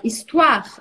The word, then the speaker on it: histoire: falou, acho que histoire, é histoire, histoire em francês. A sílaba forte é o A.